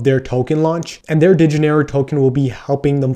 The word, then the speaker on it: Dinero: So the second token they'll actually be launching is actually pronounced Dinero with an E, so Dinero, which before the first one is actually spelled with an A and ARO.